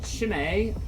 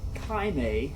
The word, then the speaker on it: Chimay: the abbey's wells, gives Chimay, or Chimay, however you want to pronounce it, its unique richness.